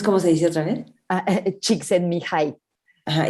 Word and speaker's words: Csikszentmihalyi: Csikszentmihalyi.